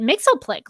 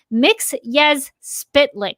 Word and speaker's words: Mxyzptlk: He actually pronounces it Mxyzptlk, like the Super Friends version. Mixy he actually physically comes out of the comic strip into the real world and corrects him to say it as Mxyzptlk.